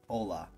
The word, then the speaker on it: Ola: It looks like Ole, but he says it's pronounced Ola, I believe.